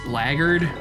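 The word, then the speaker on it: blackguard: him black black guards I know it's pronounced blackard but I've just always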